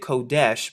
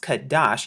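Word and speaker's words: חֹדֶשׁ: and we're here at H 2320 now they pronounce it kodesh but in the restored translation it's pronounced kadash now notice here how they say New Moon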